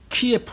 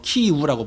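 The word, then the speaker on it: Київ: 수도 가 뭡니까 어디입니까 키에프 라고 하는데 그게 바로 소련 식 발음입니다 즉 러시아식 바람입니다 키에프 라고 하는 얻습니다 그러면 어 우크라이나 는 뭐라고 부르냐 키무라 고우키 뭐 키우라고 부르는데요 키우 그래서 지금 뭐 신문이나 이런데는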